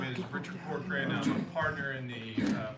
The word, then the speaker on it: Corcoran: Presentation from forensic audit Richard Corcoran, how do you pronounce it? Corcoran.